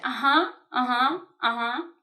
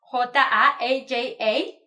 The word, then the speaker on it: ajá: they keep saying "ajá" which is in Spanish A-J-Á with acento en la última A in the last A it's as if in English you were having like A-H-A like yeah, yeah, yeah